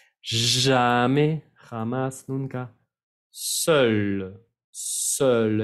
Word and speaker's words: seul: Seul, seul, es una E cerrada, seul.